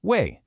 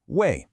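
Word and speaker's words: 未: And that brings us to our very last character, wèi, pronounced wèi, another fourth tone, wèi.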